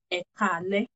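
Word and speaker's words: ẹ káalẹ́: And the last one will be ekale. E ka ale. Ekale.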